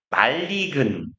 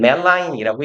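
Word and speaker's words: malign: 둘 다 뭐이는 워낙 쉬운 단어고 그래서 말레볼트 말리근 쓰시면 돼요. 말레볼랜트랑 말리근 그래서라고 읽고 얘는 멜라인이라고 읽어요.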